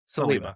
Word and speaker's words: Saliba: How do you pronounce it? Celiba or Celiba? Celiba. Okay. So, we got Mike Celiba.